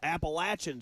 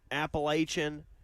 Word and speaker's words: Appalachian: It is Appalachin State.